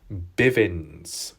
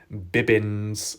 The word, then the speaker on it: Bibbins: Now, if I'm correct in saying, his name sounds a little different, but I think the pronunciation might have got mixed up in the past when talking about him. Let me know if I'm wrong, but in the past, I thought it was Kevin Bivins, not Bibbins. Maybe it's just pronunciation. Maybe there was a misunderstanding with time. Kevin Bibbins is his real name.